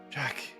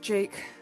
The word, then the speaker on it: Jake: knew me as th Jack use that name one more time and I will rip your wings from your back it's pronounced Jake actually a yuck are we